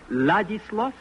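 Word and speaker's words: Władysław: It is like this. Ladislo. Ladishlo.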